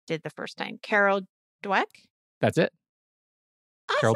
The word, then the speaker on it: Dweck: And then, okay, now I'm going to say the last name wrong again, because I think I did the first time. Carol Dweck. That's it. Awesome. Carol Dweck.